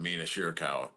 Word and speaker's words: Mina Shirakawa: Like the dance routine tonight from Mariah May and Mina Shirakawa. I'm sure. Look at you pronouncing that correctly too.